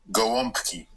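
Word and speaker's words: gołąbki: Um that um the word uh for stuffed cabbage in Polish it's pronounced goki. Gowki.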